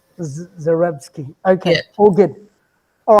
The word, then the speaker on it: Zarebski: you say your surname zorebski zarebski just exactly how it's spelled zerevsky okay oh good oh